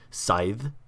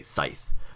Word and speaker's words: scythe: the end so it's it's a th sound as either voiced or voiceless okay so um that's